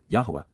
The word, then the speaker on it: Yahweh: promote recovery Cal imperative Yahweh Yahweh the proper pronunciation of the name of eloah God as directed in his